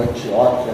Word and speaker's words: Antioquia: A notícia a respeito deles chegou aos ouvidos da igreja em Jerusalém e enviaram Barnabé até Antioquia ou Antióquia, né, como alguns assim pronunciam.